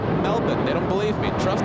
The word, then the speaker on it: Melbourne: Kevin they say Peter it's not melbin it's Melbourne I tell them no they're not from Australia if they say that yeah the locals say melbin they don't believe me